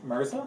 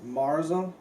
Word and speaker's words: Mirza: Can you pronounce his first name? Mirza? No, Marza.